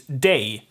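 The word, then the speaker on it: dag: all right yeah then we have dog which means day most likely gonna be da and that also goes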